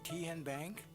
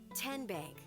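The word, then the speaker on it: TN Bank: How do you say the name? Kien Bank? Nope. Kin Bank. Uh-uh. So, what is it? Tenbank. 10 as in Tennessee.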